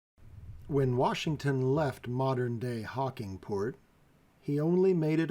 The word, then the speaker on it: Hocking: and Meriwether Lewis each called the river the hawk Hocking but that extra syllable did not stand the test of time so the river and various towns roads and businesses along it have the name Hawking instead of Hawk Hawking Washington traveled down the Ohio